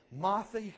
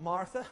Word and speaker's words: Marthy: He lived in the area where my wife's from, Marthy, Kentucky. Not Martha, Marthy, Kentucky.